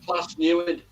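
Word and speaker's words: Plas Newydd: It's pronounced Plas Newid.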